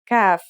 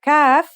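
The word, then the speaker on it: كاف: to learn today is CF the CF is pronounced just like the English K here's how to write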